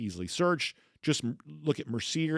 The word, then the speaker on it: Mercier: making the delicious flavors that they're famous for when it comes to Mercier Orchards Hard Cider.